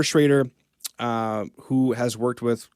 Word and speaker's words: Schrader: was working with uh I always thought it was Schroeder maybe I was saying it wrong traitor um but Josh Schroeder Schrader uh who has worked